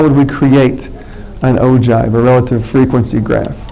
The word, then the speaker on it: ogive: relative frequency graph, or ogive. Okay? Ogive is how you pronounce that word there.